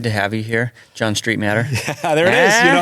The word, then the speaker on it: Streitmatter: was so good to have you here John Street matter there it is you know how to say